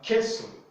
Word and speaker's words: queso: all right so yeah queso queso the u is not pronounced there because the u comes